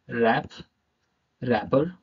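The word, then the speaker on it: wrapper: आर के पहले W silent होता है, आर के पहले अगर डब्ल्यू आ जाए तो वो साइलेंट रहेगा, वो शब्द साइलेंट रहेगा। कैसे रहेगा? Wrong, right, रैप, रैपर, wrist.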